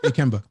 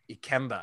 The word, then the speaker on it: Ikemba: I may be wrong on pronunciation of it, but I wanted to have a name that was meaningful. And depending on how you translate it, it means either strength of the nation or power of the people. That's awesome. And also I will say it may not be how it was pronounced on Earth, but it is now how it is pronounced in the motherlands.